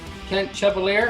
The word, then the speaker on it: Kent Chevalier: It's my privilege to have on today's episode Kent Chevalier.